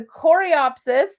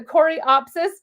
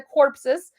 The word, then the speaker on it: coreopsis: two are my loves this is the coreopsis I finally learned how to say this so I'm so proud the coreopsis I used to call it the corpses nobody wants to buy a corpse flower so this is the